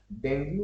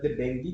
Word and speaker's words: dengue: is correct regarding डेंगू डेंगू बा डेंगू भी कहि परबे डेंगी भी कहि परबे आपन डेंगी होची तार करेक्ट प्रोनाउंसिएशन डेंगी जो रहला आपन ये